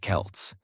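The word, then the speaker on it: Celts: These ancient people were called the Kelts, pronounced Kelts, and they didn't have Instagram or iPhones.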